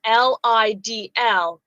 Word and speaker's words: Lidl: Okay, Angela Earls in the TV Co says, when I was a single mom, I shopped at Lidl all the time.